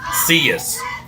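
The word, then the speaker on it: Silas: Uh we did find out the number two is a correct pronunciation is Cas.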